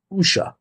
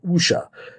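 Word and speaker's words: wuxia: the the waxia w-u-x-i-a i'm gonna look and see that it's pronounced usha that's how you pronounce that you know usha because when i didn't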